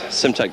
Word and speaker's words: Simtek: Is that right way to pronounce the make of car? That's right, it's Simtek Grand Prix based in